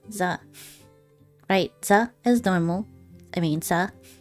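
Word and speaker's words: ざ: You pronounce this as za.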